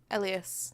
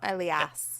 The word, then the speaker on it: Elias: But I know that Elias is a name. Elias. That's how you pronounce it, not Elias.